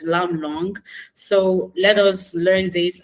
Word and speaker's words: Lammlangue: there and telling everyone it is lamb long so thank you said